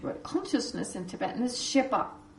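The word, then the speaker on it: ཤེས་པ: Then, the English word consciousness in Tibetan is shepa. Shespa, it's written shespa, but it's actually pronounced shepa.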